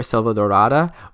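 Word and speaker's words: Selvadorada: for the world that came with jungle adventure Silva darada whoo it took me a while to say it properly but um it's it's really it's a really pretty name for a world like that Salvador ah da like said about da da da you know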